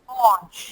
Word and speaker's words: orange: said orang orang orang orang see the O in Gold the O in go g o l i say o but the O in hot I say o hot so orang is the O orang orang okay orang